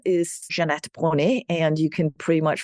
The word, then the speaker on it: Jeanette Bronée: It's not Danish, if anybody's wondering. It is French. My ancestors were French. So even though I'm born in Denmark and completely Danish, my name is French, hence the Jeanette Bronée pronunciation.